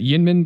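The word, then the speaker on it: YInMn: Well, in our last Cobalt Blue episode, we were talking about the new, oh my gosh, I always butcher the name. Is it Yinmin Blue? Yeah. Yinmin, okay.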